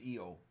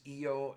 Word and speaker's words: Io: I guess I guess the Priestess is EO in the Moon is IO is this the way